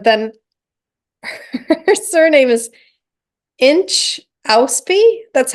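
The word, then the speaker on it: Inchauspé: Inchauspe. That's how it's spelled. It's INCHAUSPE with a little dink on it.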